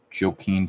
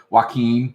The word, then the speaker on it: Joaquin: Joe Queen what's the fella pronounce the name Joe Keene Phoenix no that's not it why can't I think of how to pronounce his name whatever my roommate actually shall I said Joaquin walk walk Joaquin like duck why a key